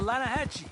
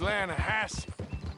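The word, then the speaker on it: Lannahechee: made in Atlanta Hasse no no no the Lana hacci it runs right near here yeah mispronounced Lana Hass why is everything in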